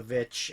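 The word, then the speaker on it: VVitch: And I'm gonna keep pronouncing it The Vitch because it's 2 V's. It's not actually W.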